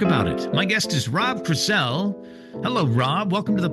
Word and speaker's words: Rob Crisell: My guest is Rob Crisell. Hello, Rob. Welcome to the podcast. Did I say your name right? Yes, you pronounced it correctly.